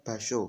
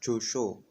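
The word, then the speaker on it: 場所: Jadi basho bukannya josho, bukannya jojo, seperti itu.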